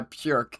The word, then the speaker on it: Björk: All right, next up, we got Peg and Poetry by Björk. That's the Icelandic pronunciation.